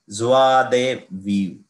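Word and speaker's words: joie de vivre: तो ऐसे पढ़ेंगे, बट इसका एक्चुअल प्रोनाउंसिएशन कैसा है, ज्वा दे वीव, ज्वा दे वीव. ओके, ऐसे पढ़ना है इसको अगर आपको बहुत ही फ्रेंच साउंड करना है तो, है ना, because these are French words, है ना.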